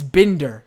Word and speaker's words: Binder: Steven says, do you pronounce it Binder or Binder? It's Binder. Binder. I like to say, like Bin Laden.